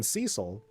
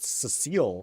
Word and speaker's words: Cecil: when Cecil, who I pronounced Cecile at the time, that was the main character of Final Fantasy II.